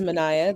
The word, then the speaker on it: Manaya: me first of all my name is manaya that's three syllables six letters um i am currently